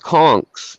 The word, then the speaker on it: conch: is they're still old conchs they like just like a conch or a conk however you want to pronounce it like the shell they